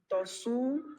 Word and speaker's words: Tosu: Am I pronouncing your name correctly? My name is Tosu.